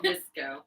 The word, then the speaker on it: VSCO: Visco. Is that? Do you actually say it like that? Yeah.